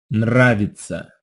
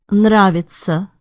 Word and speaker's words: Нравится: That's a tough pair of consonants at the start of that second word. You have an N and a rolled R. That's very hard to say slowly. Listen again and also note how the emphasis is on the first syllable.